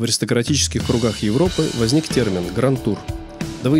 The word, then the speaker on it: grand tour: речь заходит о путешествиях часто оно произносится неверно на современный манер когда на конце слова грант ставится буква д но мы будем использовать оригинальное написание так как это французское слово то буква д на конце не произносится а называли гаранту рам